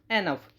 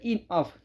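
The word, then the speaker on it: enough: सबसे पहला वर्ड है एन ऑफ। एन ऑफ। एन ऑफ को बोलते हैं इनफ। इनफ इसको प्रोनाउंस किया जाता है।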